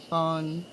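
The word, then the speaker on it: phở: Because you haven't listened to the weird ways that a Washingtonian says phone. Ribdis and Scylla. Yeah. I get it. Fun. No. Pho is pronounced pho.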